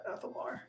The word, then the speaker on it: Aethelmaer: Yeah, Athelmar. I'd just pronounce it like it looks at this point.